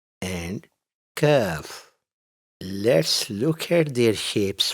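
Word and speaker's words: ك: And kaf has a lighter sound. The tongue stays more forward compared to qaf.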